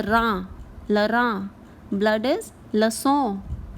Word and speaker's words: le sang: Blood is le sang, le sang. The sound of 100 is also sang. So it is pronounced the same way as we pronounce 100.